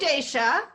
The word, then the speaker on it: Dacia: Daysha is spelled DACIA.